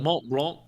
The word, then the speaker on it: Mont Blanc: That would- Mont Blanc. I mean, that was technically the correct pronunciation of a Mont Yeah.